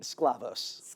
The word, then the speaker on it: Sklavos: how do you pronounce your last name? Sclavos.